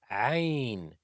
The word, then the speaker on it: ع: The 18th letter is Ayn. It's like you're being put into a choke. Uh, uh, uh, Ayn is pronounced from the middle of the throat.